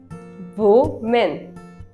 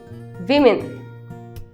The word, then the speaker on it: women: Woman. Is it woman? No, the correct pronunciation is women. Women. The combination of two words wim and in.